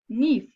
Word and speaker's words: knife: can if we pronounce knife because the leather Cape is invisible we don't know produce them in the letter in the world needs I pronounce nif we don't pronounce Kenneth